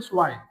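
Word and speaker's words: zwei: टू को बोलते हैं हम स्वाय। टू को क्या बोलते हैं हम? स्वाय। जर्मन के अंदर जब भी जड आएगा हम उसको से बोलेंगे।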